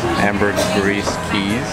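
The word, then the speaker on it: Ambergris: 25 30 minutes away from San Pedro amber amber geez that's how to pronounce it left around 11:30 goes well 32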